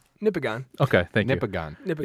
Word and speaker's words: Nipigon: nion okay thank you Nippon it's like Michigan but nipples so this is the